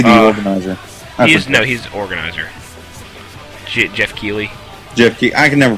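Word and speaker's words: Geoff Keighley: Jeff Keighley. I can never pronounce his name. Yeah. I always thought it was Jeff Knightley, but whatever.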